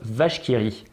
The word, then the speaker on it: La vache qui rit: Vous remarquerez en bas à gauche le petit intitulé qui se prononce vache qui rit.